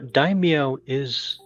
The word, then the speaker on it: daimyo: No, daimyo does have a Y sound in it. That's a Japanese term.